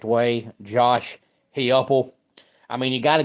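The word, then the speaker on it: Josh Heupel: day has been number seven for me is Josh hypo or if you pronounce his name the correct way Josh heuple I mean you got to give him credit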